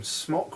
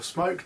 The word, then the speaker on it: Smok: Yeah, like we said, we're reviewing the TFV4 from Smok or Smoke, depending on how you say it.